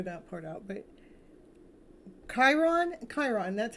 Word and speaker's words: Chiron: I didn't figure that part out but Chiron Chiron that's how you say it find out what